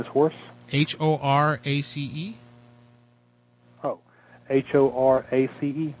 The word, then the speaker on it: Horace: Horse. Your name is Horse? H-O-R-A-C-E. H-O-R-A-C-E. What did you think? I said horse? That's what I thought at first.